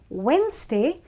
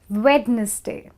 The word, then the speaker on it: Wednesday: how it is it's Wednesday and not wedness day okay the next one